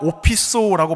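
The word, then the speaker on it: ὀπίσω: 그런데 이 구절에 헬라어 오피소라고 발음하는 이 헬라어 전치사가 들어있습니다.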